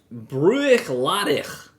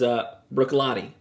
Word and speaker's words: Bruichladdich: So it looks like Bruichladdich. But the actual pronunciation is Bruichladdich.